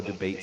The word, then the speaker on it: debate: Pronunciation, your pronunciation was good, though debate sounded a bit like defeat. Just stress that vowel a bit more clearly.